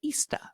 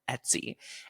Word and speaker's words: Etsy: And I used to pronounce it Ista. I couldn't even pronounce it right, but I was selling my handmade cards on Etsy.